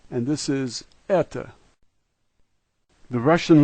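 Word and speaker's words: это: The backwards E is an E sound, and then we have T and O, and this is eta.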